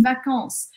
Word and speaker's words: vacances: E aí, lembrando também que esse S aqui, ao final das palavras, em geral, ele não é pronunciado em francês, tá? Então, eu falo les vacances en français, tá? Esses S eu não falo.